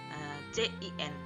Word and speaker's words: cin: Kebalikannya dari fungsi cout itu tersendiri adalah fungsi cin, CIN, dibaca cin.